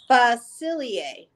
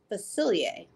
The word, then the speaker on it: Facilier: a feathery print three it's pronounced facilier facilier very cool remember you